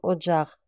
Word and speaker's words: Оджах: тонгал или же Оджах Оджах пишем но произносим как одджах Оджах пишем но произносим